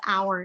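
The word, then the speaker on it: AURE: e aware understand respect and embrace and i'm pronouncing it as our initiative but it's a-u-r-e i would highly recommend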